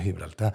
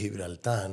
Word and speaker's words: Gibraltar: Valle Tarik, que es Gibraltarán, ¿no? Nosotros recordad que la G la pronunciamos como una J, pero si escucháramos un llanito a un gibraltareño decir Gibraltar, diría Gibraltar.